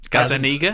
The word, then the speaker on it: Gazzaniga: Gazzaniga.